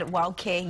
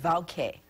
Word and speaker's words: wauke: For example, I said wauke, you said vauke. Yes, so in that example, so the word or the letter W can be pronounced as a W or a V, as a V sound.